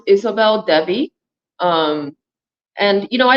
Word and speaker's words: Isobel Devi: your name um my it's pronounced Isabel Dei um and you know